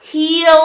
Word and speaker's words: he'll: you she will yeah he'll improve he'll improve that's the same word as the bottom of our foot our heel yeah it's not the same word the same pronunciation right heel the contraction